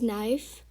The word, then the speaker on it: knife: word we have is knife and you pronounce it as n-i-f-e but when you write it you have to include the k so you don't pronounce